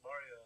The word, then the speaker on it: Mario: How do you say, is it, what is it, Drago, or how do you pronounce your Draco, but my name's Mario. what's your name again? Mario?